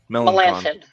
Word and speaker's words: Melancon: yeah, But we've also got Mark Melancon. Melanson.